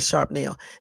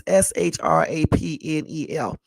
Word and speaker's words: shrapnel: I just said sharp nail. It could be pronounced a different way. It's SHRAPNEL.